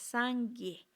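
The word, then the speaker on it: སངས་རྒྱས: Os voy a hablar en tibetano, son 2 sílabas, Sangye.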